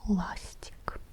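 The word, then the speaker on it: ластик: A is the stressed vowel. Lastic. This is an optional marking, as you might remember. We can use it to mark the stressed syllable, but it's not part of the writing system in Russian.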